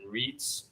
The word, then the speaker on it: Reitz: van and cannon man and reets rhymes with wreaths the pitch utah goes